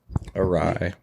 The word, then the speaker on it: awry: Awry. Yeah. So it's kind of not like... array. Hold on. Pronunciation. No, it's... We know how to spell the word, that's all that matters. Array. Awry. It's awry. No, it ties into what